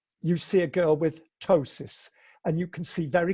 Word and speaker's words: ptosis: charge have a condition called ptosis spelled p te o s is and in almost all